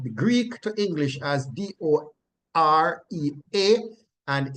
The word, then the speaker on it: dorea: The root word is transliterated from the Greek to English as D-O-R-E-A, and it is pronounced do, re, a. Like I would say, do, re, And then it goes mi fa sol la ti do.